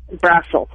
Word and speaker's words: Brassil: Is it Brassil or is Brazil? How do you pronounce your last name? Brassil. Brassil. Yes. Out of all the guesses I made, I didn't guess Brassil. Brassil rhymes with brothel a little bit.